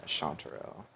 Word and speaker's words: chanterelle: Yeah, chanterelle.